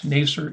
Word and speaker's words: Nasir: hope i'm saying vanguard properly um but yes nacer is the correct pronunciation it's funny i think yarn says pronunciation